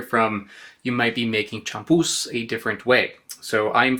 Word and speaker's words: champús: I've been saying it wrong. Apparently it's champús, not champus.